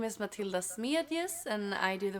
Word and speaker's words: Matilda: name but uh it's okay how do you pronounce it properly matilda it's literally the same so matilda yeah okay matilda uh we're gonna okay we're